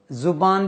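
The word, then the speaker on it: زبان: लफ्ज का तलफ देखिए जुबान भी कहते हैं जबान भी कहते हैं फ फैरूज लत में दोनों को तरजीह दिए गई है दोनों तरह से हम उसका उच्चारण कर सकते हैं प्रोनाउंस कर सकते हैं जबान उर्दू जबान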